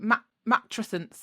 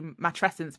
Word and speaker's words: matrescence: it's funny isn't it lots of people kind of go mat matent or I mean I guess you could pronounce it like that if you wanted to I don't know but I i' I've only known it to be matrescence because of the terminology